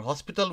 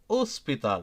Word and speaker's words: hospital: Okay, so café, pão, loja, cidade, and for hospital we say hospital, right? Hospital. We don't pronounce es.